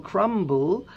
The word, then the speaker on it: crumble: You can also have an apple crumble, but that is not exactly at the end of the word, so we do pronounce the B in crumble.